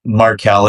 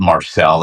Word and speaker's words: Markell: My Markeel is my middle name. I just spell it different cuz wrestling fans would pronounce it Marcel.